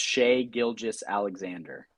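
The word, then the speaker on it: Shai Gilgeous-Alexander: i might jump on it you might have sold me but you have to say his name right first it's shea gilges alexander shea gilges alexander yeah beautiful so side note so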